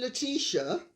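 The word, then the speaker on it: Letizia: comments i think queen leticia and i'm using the british pronunciation sorry i'm not spanish i don't speak about parry and munchen i speak about paris and munich so i'm speaking about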